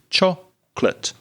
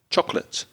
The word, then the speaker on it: chocolate: food which is chocolate careful of the pronunciation only two syllables in chocolate and the first syllable is stronger so two syllables chocolate chocolate two lovely things that